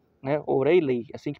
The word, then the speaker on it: O'Riley: E também respondendo, né, não me recordo quem perguntou sobre o jogador do Brington, o o Oraley, né, Oriley, assim que pronuncia, Oriley.